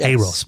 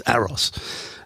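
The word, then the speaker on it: AROS: This is an operating system that is called um I believe you pronounce it Aeros. I used to call it AOS, but someone corrected me once. It's not A-OS, it's Aeros.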